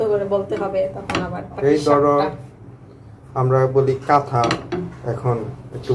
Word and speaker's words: পাটিসাপটা: তো এখন জাস্ট উল্টে নিব, পাটি শাপলা পাটি শাপলা না পাটি শাপটা হয়ে গেল পাটি শাপটা আমরা কিন্তু আগে ছোটকালে পাটি শাপলাই বলতাম বুঝছো আমরাও বলতাম যেটা উচ্চারণ হচ্ছে পাটি শাপটা পাটি শাপটা কিন্তু ছোটকালে